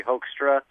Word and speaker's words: Hoekstra: Hoekstra is Hoekstra. The American pronunciation would be Hoekstra. It's kind of a Dutch name, so Hoekstra.